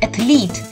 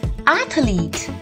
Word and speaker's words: athlete: It is not athlete. It is athlete. Say it once more with the stress on the the syllable.